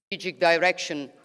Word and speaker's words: direction: The whole purpose of not pronouncing the vowel and just replacing it with uh is to make it obvious to the listener if it's stressed or unstressed.